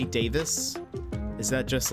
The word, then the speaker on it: Davies: say his name because in Taskmaster they say Greg Davis but in um travel man Richard ayawada says he says his name is Greg Davies so I'm very confused